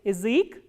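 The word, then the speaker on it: язык: Ya also becomes e when it is not stressed, like in Ezek. Ezek is language.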